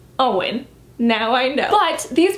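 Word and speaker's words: Eoin: books as a kid I called him a Owen colfer but he's Irish you say his name Owen now I know what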